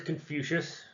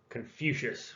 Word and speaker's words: Confucius: the first word is confucius and you kind of break that down con is in con man few as in future shush as in hey you it's back to class shush so confucius when you put them